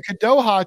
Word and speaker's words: Kadoha: the country the kadoha he corrected me now I'm pronouncing it right the kadoha Treasure Fest which is